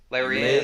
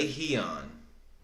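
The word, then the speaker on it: Lerone: We have Jamal Emmers versus, now I know how to pronounce his name. Larian. Lehion.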